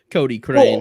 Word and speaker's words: Cochrane: It'd just be Cody or Cochrane. Cody Crane.